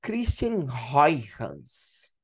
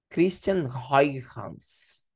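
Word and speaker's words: Christiaan Huygens: Ou, se você quiser pronunciar no holandês, né, é o princípio de Christian Huygens. Christian Huygens. É como você pronunciaria aí no holandês, tá?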